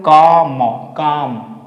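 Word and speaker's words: calm: ये सी ए एल एल को हमें प्रोनाउंसिएट नहीं करना। बोलेंगे काम। काम नहीं बोलेंगे। काम बोलेंगे।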